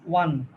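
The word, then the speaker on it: one: If plus past indefinite সমান subject plus would plus verb অন। অন না, ওয়ান। ওয়ান উচ্চারণটা ওয়ান।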